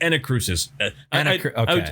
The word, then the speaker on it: Anacrusis: and that curses and it's Anna Cruces I was just mispronouncing oh okay you're putting the emphasis on the wrong syllable exactly um but uh